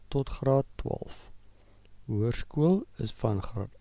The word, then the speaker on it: hoërskool: As you can see the E of hoërskool, there are two dots. These dots are called a deelteken. They indicate that a new syllable starts. Notice therefore the pronunciation. Hoërskool, hoërskool. You don't pronounce the O and E together.